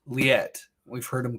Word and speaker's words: Liet-Kynes: his stuff up and he pronounces his name what's his name he says i am lit kinds i'm liat kinds have you ever heard him address like that before um we've heard him called lyette we've heard him called